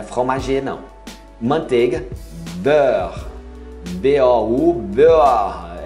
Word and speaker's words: beurre: Manteiga, beurre. B-O-U, beurre. É um pouco mais complicado porque é uma fonética diferente da nossa. Beurre. Você não fala beurre. Não, não tem pronúncia do E final.